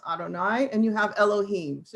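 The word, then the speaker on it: YHWH: of god you have the yhvh yahweh which we pronounce adonai and you have elohim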